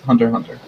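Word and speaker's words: Hunter × Hunter: you are deer card about the authentic pronunciation it's hunter hunter that's why I know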